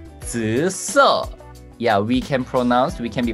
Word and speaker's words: 紫色: There are third accent and first accent. 紫色. 紫色.